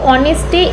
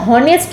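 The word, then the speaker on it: honest: দেখ অনেস্টে এইচ দিয়ে শুরু হচ্ছে কিন্তু এইচ এর উচ্চারণ হয় না। আমরা কখনো বলি না যে হনেস্ট ম্যান।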